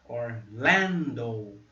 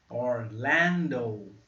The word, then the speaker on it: Orlando: Orlando. Ó, como o O no alfabeto. O. Ó, Orlando. A sílaba forte está aqui, ó, no L. Orlando.